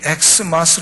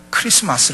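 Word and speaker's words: Xmas: x 마스 로써 가져올 x 마스 라고 부르는 것을 아주 첨부시 칸 발음 이에요 x 아니게 x 라고 하는 것은 양 라틴어의 크리스트 c 의 약자 해요 그러니까 이렇게 쓴 것은 뭐라고 해야 되요 x 마스 활용한 크리스마스 로 그냥 읽어야 되요 글씨 맞서야 예수 그리스도를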